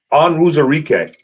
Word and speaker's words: Onwuzurike: Onwuzurike.